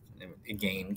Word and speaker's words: again: vein pain and again again can be pronounced to rhyme with vein and pain between the other stances